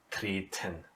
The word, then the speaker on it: treten: two vowels, but anyway, you have to pronounce it in a deaf way. So treten. Yeah? It never gets soundy in any way.